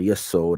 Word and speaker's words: Yesod: Okay, and then you step down past the heart and step into Yesod, or Yesod, I pronounce it.